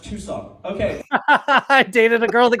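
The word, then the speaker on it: Tucson: four charges oh too soon it's it's actually pronounced too s okay dated a girl that called it tuxen are you serious you know her you know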